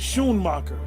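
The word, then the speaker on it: Schoonmaker: o's so s c you was really pronounce it sh marer School maker trust me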